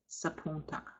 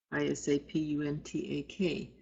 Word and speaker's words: Isapuntak: So you might hear is Sapuntak as Sapuntak without the I.